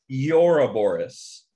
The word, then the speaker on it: Ouroboros: It's Ouroboros. It's right? Ouroboros. Ouroboros. It's actually, I looked this up. It's pronounced Ouroboros.